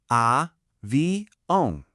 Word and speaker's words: avião: It's a nasal sound. The best way to think about it is like you're saying ow, but you're pushing a little bit of the air out through your nose. It sounds like this. A.